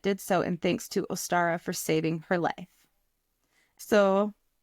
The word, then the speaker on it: Ostara: so in thanks to Ostara for saving her life. So, I looked up how to say this. It was like Uster or Ostara and later Ostara, the goddess of spring herself,